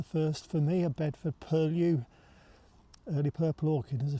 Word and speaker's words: Purlieus: Actually, it's not Bedford Purlieus. I've got to remember that this year. It's Bedford Purlieus. I've been ticked off so many times. Bedford Purlieus. Rhymes with curlew, apparently.